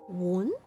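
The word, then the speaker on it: 碗: The second tone, the rising tone, has an intonation similar to that used in English to indicate a question. So it's like, huh? So it's like, won? Sam won? It's like asking a question.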